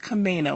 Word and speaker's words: Camano: A M A N O, but it is pronounced Kamo with a long A. So, I want to make sure everybody knows that. Can you tell me a little bit about what the Kamino Island Chamber is responsible for and how our